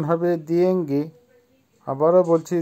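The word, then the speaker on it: деньги: দিয়েঙ্গি, দিয়েঙ্গির অর্থ হবে টাকা বা মানি, উচ্চারণ হবে দিয়েঙ্গি। আবারও বলছি দিয়েঙ্গি, দিয়েঙ্গি।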